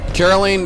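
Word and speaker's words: Caroline: let's merge some personas Carolyn there's no need to be hostile and it's weird calling you that I know it's because it rhymes with Justine but still it sounds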